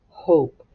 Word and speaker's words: hope: short vowel word, hop, and you put an E on the end of the word, it suddenly changes into what, class? Hope. That's right. It has a long O. And you cross out that E because you don't hear it.